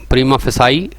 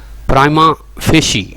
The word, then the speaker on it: prima facie: Mostly हम इसको गलत पढ़ते हैं prima facie. Its correct pronunciation is prima facie.